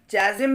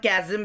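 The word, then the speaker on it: chasm: एक ये जो चाजिम है, ओके, चाजिम भी बोलते हैं और कैजिम भी बोलते हैं इसको प्रोनाउंसिएशन में।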